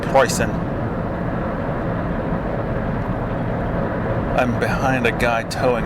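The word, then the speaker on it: Preußen: seductive by the way in Germany they don't pronounce Prussia Prussia they pronounce it pricing I'm behind a guy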